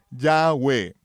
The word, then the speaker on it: Yahweh: y diles en relación con las fiestas de Yahweh Ahora sí podemos pronunciarlo correctamente verdad no solo las fiestas del